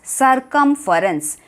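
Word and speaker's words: circumference: Observe the spelling, CIR सर, CUM come, FE फ, RENCE Reigns, सर्कमफरेंस.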